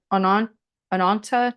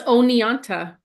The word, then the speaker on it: Oneonta: Yeah, 1933, Ananta, New York. I'm sure I'm pronouncing that wrong. It's O-N-E. That's Oneonta.